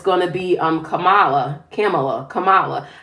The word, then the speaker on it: Kamala: Now they're saying that it's going to be Kamala.